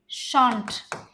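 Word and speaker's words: shan't: Interesting सा word बताती हूँ, शैल नॉट को क्या लिखेंगे, शांट, SHAN', शांट या शैंट। शैंट आपका अमेरिकन प्रोनाउंसिएशन है, शांट आपका ब्रिटिश प्रोनाउंसिएशन है, शैल नॉट को शांट, ठीक है।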